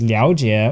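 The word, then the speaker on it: 了解: certain words, such as liao jie, or to understand. Here it is pronounced liao. Now, there are so many compound words where it's pronounced liao that I can't possibly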